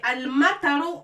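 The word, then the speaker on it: المطر: ça se prononce ro et tout le mot on le prononce al-mataru.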